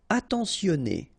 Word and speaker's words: attentionné: Attentionné, okay, at the end you get this E accent aigu, so et, a, temps, so remember, E-N, en, temps, sionné, attentionné.